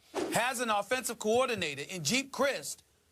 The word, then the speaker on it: Geep Chryst: an offensive coordinator and Jeep Crist I believe that's how you pronounce his name JD's GEEP Chryst you got it well he was